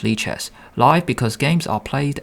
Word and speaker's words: lichess: a combination of live light libra it is pronounced leches live because games are played and watched in real time 24 7.